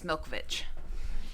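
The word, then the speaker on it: Malkovich: pisses John movich off Milkovich it really pisses John Milkovich off yeah say his name right Abe sorry yeah Abe it's Milkovich uh and you know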